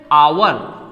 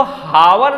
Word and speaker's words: hour: उसी तरह से आवर, HOUR, आवर मीन्स क्या होता है, घंटा, हम इसको हावर नहीं पढ़ते हैं, इसको हावर नहीं, क्या पढ़ा जाता है, आवर।